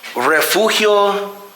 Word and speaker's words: Refugio: So Maximo was the one that was publicly hanged, but Refugio Juareque was the man that was hung here. Let's try again. Yeah. Well, how do you say his name? Refugio? Yeah, Refugio.